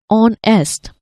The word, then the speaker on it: honest: H is silent in these words. So R is pronounced as R and honest is pronounced as onest.